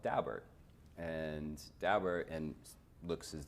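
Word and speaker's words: Daubert: did is they teed up the case called dalbert and dauber and looks as though it should be pronounced dober but people i know who know the dalberts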